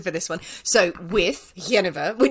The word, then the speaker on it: Genever: Do you pronounce it Genever or Genever? Well, I pronounce it Genever, but that's because I'm English. I'm going to go Genever.